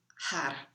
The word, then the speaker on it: har: which uses the mantra har it's spelled h a r and the tongue is rolled har or if you cannot roll your tongue then you say had so you want the